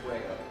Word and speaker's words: Fuego: - It's pronounced Fuego.